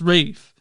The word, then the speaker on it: Ralph: bothers me about the ray finds is his pronounced rafe and i'm like why like like they don't